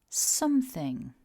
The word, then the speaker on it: something: to notice is that this is a two-syllable word and that we stress syllable one so repeat after me something focusing on syllable one